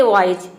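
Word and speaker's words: wise: तो देखिए यहां पे वाइज का डब्लू का हो जाएगा ओ आई का हो जाएगा आई एस का हो जाएगा ज यहां पे हम एस को ज प्रोनाउंस करेंगे एस के उच्चारण के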